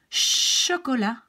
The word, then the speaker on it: chocolat: Okay, then we have sh, like in machine, chocolat, chercher, shampoing, chaud, machine, méchant.